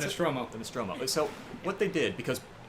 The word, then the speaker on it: Nostromo: Is that how you Yes, the pronounce Nostromo. it? The Nostromo.